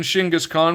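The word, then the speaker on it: Genghis Khan: We got Shingis Khan, the very excellent barbarian. Shingaskhan, which is I believe how it's actually pronounced in Mongol in the Mongolian dialect, demonstrates his martial arts skills.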